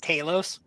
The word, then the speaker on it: Talos: so based yeah it's because they have those pronounced Talos ah it's in the audiobook yeah this guy's